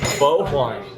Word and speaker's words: Phở Hoài: so yeah one question though how do you pronounce the name of this place bow wine um the standing of uh is of course